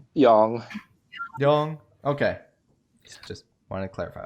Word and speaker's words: Yang: there foreign all right is it yang is it young it's young i've i've been saying it wrong my whole life there's always the remake for four that's young yeah young okay young like a long like you know a like a british yang young young okay just